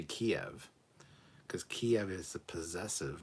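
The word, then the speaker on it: Kyiv: sorry start that again say kiev because that's the proper way to say it don't say kiev kiev is the russianized ownership so yeah matt boardman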